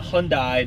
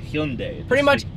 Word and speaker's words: Hyundai: Not Hyundai, not Hyundai. Hyundai. Everyone pronounces that wrong.